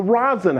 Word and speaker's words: Rosson: going on so here it's the rosin house am i saying it right you are saying it